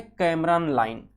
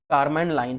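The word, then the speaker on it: Kármán line: अब यहाँ पर एक चीज ये देख पा रहे होगे कि दिया गया है कैमरन लाइन, कारमैन लाइन है, जो आप करना, ये प्रोनाउंस मैंने गलत किया प्रोनाउंस, एक कारमैन लाइन है।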